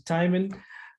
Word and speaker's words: Tymon: name is tymon you pronounce it as timing and timing yes and um i'm